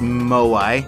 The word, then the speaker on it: moai: which I now know is pronounced moai that's okay we're still at two health still